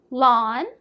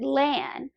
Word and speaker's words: Lan: Lawn. Wait, are you sure? I know. Most people pronounce it lan. Rhymes with van or pan.